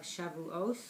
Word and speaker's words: Shavuot: on the holiday of shavuots or shavuot how you depending on how you pronounce it so this is going